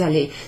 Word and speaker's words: allée: Je suis allée. So whether it's got the extra E on the end or not doesn't actually change in this instance the pronunciation.